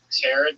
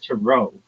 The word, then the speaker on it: tarot: Is it a terret card? It's not I've only heard tarot card. Yeah, from uneducated individuals. It's tero.